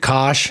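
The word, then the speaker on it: Koch: It's spelled like coke. K O C H. Not Coke like the soda, but like Coke. I think it's a lot of people say it like Coke, but it's Kosh.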